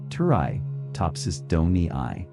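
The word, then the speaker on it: Turritopsis dohrnii: Its scientific name is turtopopsis dorni. You can say it like this. Turi topsis doni.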